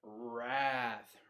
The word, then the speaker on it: wrath: Wrath, the W obviously is silent, and that just means extreme anger.